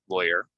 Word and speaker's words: lawyer: it's a lawyer okay rhymes with boy ly ly lawyer so that's a little